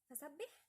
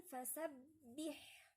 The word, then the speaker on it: فسبح: الباء مشددة، لازم نعرف ان الباء دي اذا كانت مشددة او اي حرف مشدد معنى كده ان احنا بننطق حرفين، حرف ساكن ومتحرك، لازم ننطق الاثنين، ما نقولش فسبح اولا ما حققناش الكسر، وتاني حاجة ان انا ما نطقتش غير باء واحدة، لا هنا لازم نقول فسبح، اولا نطقت الشدة وكسرت كويس حققت الكسر. فهنقولها ازاي؟